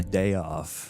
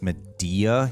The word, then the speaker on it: Madea: totally step in a m off M off it's actually pronounced media you racist a off